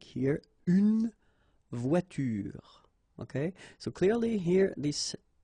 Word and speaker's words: voiture: Okay, but then you don't insist on it, so clearly you don't pronounce it une voiture. Same thing here. The last thing that you will hear is this r, voiture, voiture.